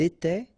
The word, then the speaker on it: était: Remember, final S here, here, final T, and then here, ENT, you don't pronounce them.